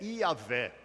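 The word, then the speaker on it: Yahweh: E a pronúncia mais próxima que se entende desse nome é Iahweh.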